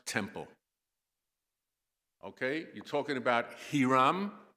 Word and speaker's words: Hiram: Okay, you're talking about Hiram, or Hiram as I would pronounce it, one of the kings of Lebanon.